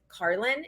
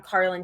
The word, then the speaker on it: Carlyn: everything is connect with Carlin and my name is spelled c-a-r-l-y-n yeah um it's like Carolyn but no o so my Instagram handles